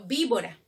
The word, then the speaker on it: víbora: Víbora, la primera con que se escribe, con V, ¿no es cierto? Pero ¿cómo suena? Víbora. ¿Hay alguna diferencia entre la primera con V y la segunda con B? En el sonido no.